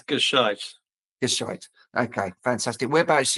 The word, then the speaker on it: Gescheit: It's Gishite.